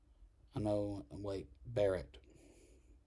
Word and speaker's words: Barrett: Amy Coney Barrett. Barrett. See, I mispronunciated the double consonants.